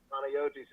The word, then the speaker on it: Panagiotis: So, and pronounce it for me again. Panayotis is Peter in Greek.